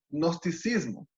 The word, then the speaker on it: gnosticismo: era conocida como el gnosticismo. Se escribe con una G al comienzo, ¿no?